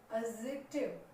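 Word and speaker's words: adjective: ये पता है कि जी और जे से पहले डी साइलेंट है, तो डी को ना बोलकर अब इन वर्ड्स को बोलने की कोशिश करिए। एडजेक्टिव, एडजेक्टिव, एडजेक्टिव, ठीक है, डी को नहीं बोलना है।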